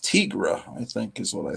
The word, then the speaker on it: Tigra: thought it was pronounced Tigra, I think is what I thought. I just didn't make the connection. I pronounced that long I sound, remember your phonics. Because she's a tiger, right?